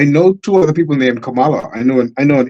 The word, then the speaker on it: Kamala: just not learned but I just realized the pronunciation of a name Kamala Kamala I've been saying Camala for years and apparently Donald Trump said Cala and everybody got upset and I said to